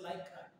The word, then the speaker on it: লাইক্রা: হচ্ছে বাণিজ্যিক নাম বা ওটার আসল উচ্চারণ হচ্ছে লাইক্রা। আমরা বাংলায় ইংলিশ শব্দকে বাংলায় উচ্চারণ করতে করতে ল্যাকড়া বলি, লাইক্রা।